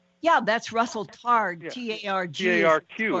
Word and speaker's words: Targ: T-A-R-G.